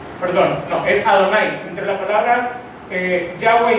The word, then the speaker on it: Yahweh: Así que este nombre, que en el hebreo se pronuncia Yahweh, significa el que era, el que es y el que será.